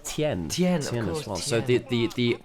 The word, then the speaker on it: Tian: By the way, in Pinion as well, it's not Tian, it's Tien.